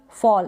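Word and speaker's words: fall: बॉल, toll, फॉल यानी ए को अ pronounce करेंगे आप।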